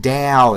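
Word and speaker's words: Tao: I know it's pronounced Dow.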